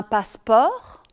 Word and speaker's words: passeport: En ce qui concerne la prononciation des finales, il faut bien retenir que le T et le S final ne sont en général pas prononcés en français, sauf en cas de liaison, mais on le verra tout à l'heure.